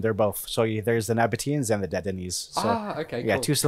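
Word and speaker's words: Nabataeans: you have a good time looking at the Nabatine and Dedanese ruins in Alula. Yes. Thanks for correcting my pronunciation. Oh, yeah. No. There are two of them. They're both. So there's the Nabateans and the Dedanese.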